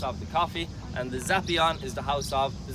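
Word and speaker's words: Zappeion: Now that building is called the Zapion. Those R's are P's in Greek.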